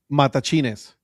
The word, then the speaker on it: Matachines: Matachines. Hey, you got it right, Patrick. Hey. Matachines. Yes, remember, there's no accent, so you don't say mata or matachines. No, matachines.